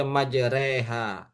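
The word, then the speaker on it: مجراها: membaca miring contohnya ee di dalam al-qur'an itu ada majroha tulisannya tetapi dibaca majreha nah tetapi selain itu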